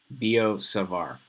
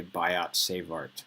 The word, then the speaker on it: Biot-Savart: Both words end with T, but you say it like there was no T. Biot-Savart. Okay, don't sound like a bozo and say Biot-Savart or something like that.